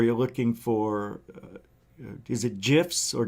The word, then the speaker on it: GIF: It's a gift without the T. Isn't that how it's said? Right? A GIF. There's no T. That's how somebody told me how you remember to say GIF.